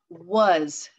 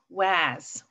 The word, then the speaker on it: was: w-a-s was now w-a-s that's funny because we're not saying waz it's not that short a and it doesn't get spelled with an o what does that mean i think this might be our oddball was doesn't make that short a doesn't make that short o doesn't follow the rules was well let's take